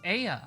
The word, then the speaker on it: Ea: When the vibration of vocal folds was still required to convey our thoughts and intentions, Aya, I believe, was the pronunciation used when referring to our people.